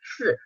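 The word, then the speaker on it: Ц: This is pronounced "s," like at the end of pants, the "ts" part.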